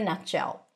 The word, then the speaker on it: nutshell: To summarize this lovely video, we are going to practice the phrase in a nutshell. In a in a in a in a nutshell. T is held connected to the sh sound.